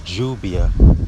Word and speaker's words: lluvia: And the term for rain in Spanish is lluvia, but it's spelled or expelled Lluviia, lluvia, because the V is pronounced like a B.